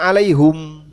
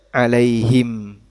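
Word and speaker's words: عليهم: Bahasa orang Hijaz itu bacanya alaihum. Sebagaimana mereka baca alaihu. Orang Hijaz. Artinya dalam bahasa Arab ini juga ditoleransi. Dalam salah satu cara baca orang Hijaz bacanya alaihum. Walaupun umumnya alaihim. Tapi ditoleransi dalam salah satu lughah orang Hijaz dibaca alaihum juga dibaca alaihu.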